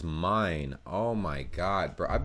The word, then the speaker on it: Main: yeah i forgot franklin i would say frankfurt on main but it's mine oh my god bro